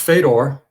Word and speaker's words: Fedor: And it's pronounced Fedor in my family. And then I grew up, we moved to Canada when I was 5, and it was pronounced Fedor by my teachers and my friends all the way through adulthood.